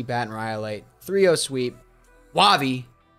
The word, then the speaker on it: Wahvey: Wahvey, pronounced correctly.